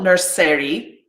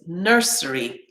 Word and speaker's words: nursery: an eary right so it's not nursery it's nursery primary secondary and then